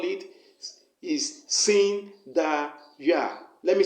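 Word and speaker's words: Sindeyah: god you are going to call it is sin da ya let me spell it for you s i n d e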